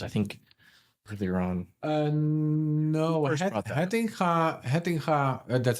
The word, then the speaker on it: Hettinga: So was that Hatinga's idea? Because I think earlier on. No, Hettinga, that's how I pronounce it because Hettinga. It's a Dutch name.